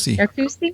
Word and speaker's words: Narcoossee: So we, and I'm going to pronounce, is it Narcoossee? Narcoossee.